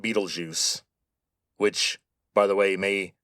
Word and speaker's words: Betelgeuse: By the way, that is how you say that name. Betelgeuse.